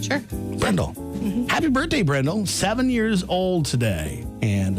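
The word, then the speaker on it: Bryndle: today if I pronounce that right is it brendel b-r-y-n-d-l-e what you said that right sure Randall happy birthday brendel seven years old today and I got the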